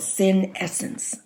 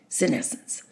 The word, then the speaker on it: senescence: hard time pronouncing it it's called sin essence just like sin essence it doesn't spell out that way sin the essence of sin senescence okay that's what we